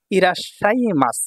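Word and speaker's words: いらっしゃいます: এইযে ই এতটুকু হল রা আর এখানে সু ছোট আছে। এটা হল সা তাই না? তাহলে ইরাশা। এই সাটা দুইবার উচ্চারণ হবে।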